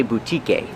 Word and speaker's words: boutique: Remember the pronunciation boutique. The e at the end is silent. We do not say boutique. It's a long u vu and a long e boutique.